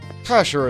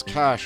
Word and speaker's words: cache: Cacher is a fun word. A lot of people will insist that it's pronounced cache. Not me. As long as people understand what you're talking about, and as it's cash and not, like, loose currency, it's fine.